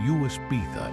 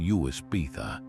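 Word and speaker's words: uisge beatha: The Gaelic phrase Uis Beatha is pronounced roughly as ishkbh. To an English ear, the first word, Uis, sounded like whiskey, and the second part was often dropped altogether.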